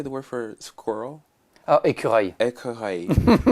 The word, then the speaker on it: écureuil: Oh, écureuil. Écureuil. You see those words that are like œil, accueil. Those I have to formulate my mouth differently.